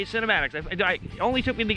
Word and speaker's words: CinematiX: So that is gonna cover the fpvframe.ch cinematics, that's how you say it, cinematics.